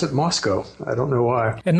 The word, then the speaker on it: Moscow: It is, yeah, except for some reason we pronounce it Moscow.